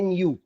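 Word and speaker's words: ν: Symbol ऐसा और इसको प्रोनाउंस करते हैं nu न्यू।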